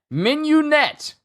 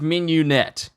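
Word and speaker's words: mignonette: understand how do you say it hold on minionette yeah menu net that's how you say it sorry expect me to look up to how to it's pronounced menu net that's how you say it expect me to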